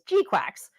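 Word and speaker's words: GQuuuuuuX: Uh how many of you have been watching Mobile Suit Gundam Gquax because that is how GQ u UX is evidently pronounced as Gquax?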